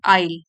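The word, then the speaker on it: aisle: side of द आइल इसमें S silent है आइल ठीक है तो गलियारे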